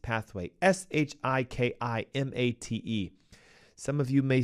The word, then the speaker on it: shikimate: Okay, we know it is a major gut microbiome disruptor because glyphosate chemically disrupts the shikimate pathway, Shikimate. Some of you may say, you're not pronouncing it right.